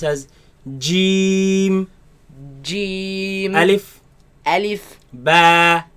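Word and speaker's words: جيم: Gee Gee Gee Gee some people they loosen this letter and say she Shh and that is incorrect it is solid letter the Mockridge of it completely closes so Jim Jim it is incorrect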